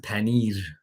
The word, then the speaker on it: paneer: We pronounce it paneer. Persians kind of roll their R's a little bit. We are Iranian, we roll the R.